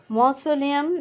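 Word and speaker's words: mausoleum: মসলিয়াম আমরা উচ্চারণ করব মৌসলিয়াম, মৌসোলিয়াম।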